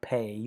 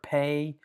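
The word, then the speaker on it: פ: Um, and that's the idea of the letter pay. You can definitely see that it has a P sound to it. Uh, so with the dot, it's the regular P sound.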